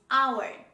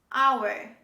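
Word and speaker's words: hour: very common english word this is our our don't say how word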